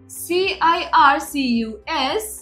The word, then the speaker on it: circus: CIRCUS. circus. First में हमने स यूज किया, बीच में हमने क यूज किया.